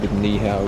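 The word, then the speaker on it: 你好: Nihow, which is how you say it in Chinese.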